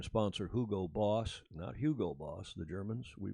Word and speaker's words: Hugo Boss: black his longtime sponsor who go boss now Hugo Boss the Germans we pronounce it in Alf Doge Mario Schumann's watching will tell you it's Hugo Boss and they were our outfitter for the McLaren